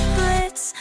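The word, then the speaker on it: Blitzø: Hi there, I'm Blitz. The O is silent, and I am the founder of I.M.P.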